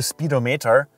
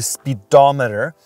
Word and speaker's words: speedometer: here in the middle we have the speedometer it's not the speedometer it's the speedometer and it basically shows